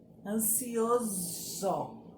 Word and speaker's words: ansioso: Por exemplo, as palavras se escrevem com um S, mas tem som de Z, que lembra o quê? A abelha. Então, vamos lá, ó. Furioso. Ó, furioso. Não lembra a abelha? Outra. Ansioso. Ansioso. Mesma coisa. Zzz. Lembra uma abelha, o som de uma abelha.